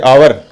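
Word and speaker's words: hour: इसी तरह से आवर एच ओ यू आर, इसमें एच साइलेंट है तो किसकी ध्वनि आएगी?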